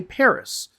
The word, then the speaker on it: Paris: So a lot of words in French just don't pronounce that last S. Like Paris, for example, and in English we say Paris.